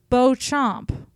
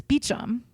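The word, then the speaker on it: Beauchamp: there's a a surname beum but it's Bo Chom in bamp in French but in English it's beum so I like I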